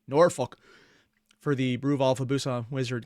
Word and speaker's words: Norfolk: mean Norfolk sorry let me say it correctly Norfolk for the Brew alfabusa Wizard game can you